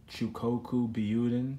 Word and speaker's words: Cyokoku Buyuden: Cyokoku, Buyuden, Super Saiyan God Vegeta. Yeah, that's how it's pronounced. I used to take Japanese classes.